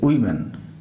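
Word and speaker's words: women: উইমেন, এটা হচ্ছে উচ্চারণটা ওম্যান, আর এটা হচ্ছে উইমেন, উচ্চারণটা এরকম হবে।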